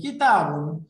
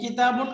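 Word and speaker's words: كِتَابٌ: শব্দ কিতাবুন, এই যে কিতাবুন, এই কিতাবুন আসলে এটার উচ্চারণটা হচ্ছে এরকম, এই যে শেষে একটা নুন সুকুন আছে, তাই না?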